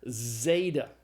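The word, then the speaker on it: ζῆτα: The zeta is the Z sound as in the English word days. Now, there is some controversy about how to pronounce the zeta even in um standard pronunciation.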